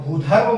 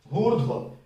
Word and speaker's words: भूर्ध्व: अब भूधर्व मत पढ़िए, क्योंकि ये जो र है उसका उच्चारण इस अक्षर भू के बाद आएगा, भूर्ध्व, ठीक है।